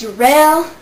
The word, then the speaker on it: Jarrell: uh yeah what's up my name is jarrell it smell like daryl once pronounced darrell and i just want